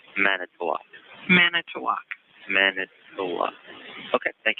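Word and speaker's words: Manitowoc: murdered is Teresa halbach halbach halbach and it's manok man toak manok okay thank you very much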